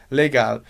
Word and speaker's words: legal: gente fosse pronunciar de um jeito bem alemão a gente diria legar legal você não tem esse são bem presente ai ai lá no